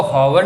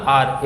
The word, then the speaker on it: hour: ये क्या लिखा है HOUR, इसको हॉवर नहीं बोलते, ये H यहाँ पे साइलेंट होता है, इसको बोल जाता है R, R मतलब घंटा, 1 घंटा कितना होता है, ठीक है ना।